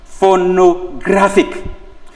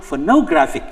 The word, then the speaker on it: phonographic: word ends with ic you can see phonographic is pronounced for no graphic so you could just count one two that becomes your answer again demarcation demarcation same